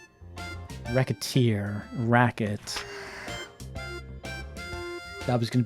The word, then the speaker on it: Recettear: recite tears not thrilled let's pronounce it even slightly and wreck a tear racket that was going